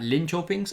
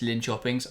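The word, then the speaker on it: Linköping: she was playing at Lyn Chings I believe is how you pronounce it we were told the other day when we were mispronouncing it that it's Lyn Chings I'm hoping that is correct um but yeah so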